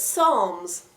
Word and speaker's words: Psalms: this is Psalms Psalms the P is actually silent when you pronounce it so it's songs and psalms is another